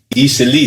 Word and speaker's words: Eastleigh: Easily, that's how Easily, that's how they pronounce it. it. That's how it's written. It's easily. It's easily. Okay. But they say easily.